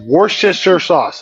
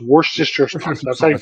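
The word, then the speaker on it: Worcestershire: Wednesday in some places worst just your sauce it's worst just your sauce thank you Harley phone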